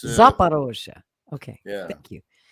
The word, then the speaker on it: Zaporozhye: Did I pronounce that right? Zaporozhye, yeah, it's Zaporozhye.